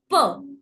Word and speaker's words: peux: Dipsticks rule, DPSTX. In the end, we don't pronounce it, right? Which is why we don't pronounce the X in both the cases. So technically what I'm left with is VEU and PEU. Now I know for a fact that EU put together gives me a. So je veux, je peux.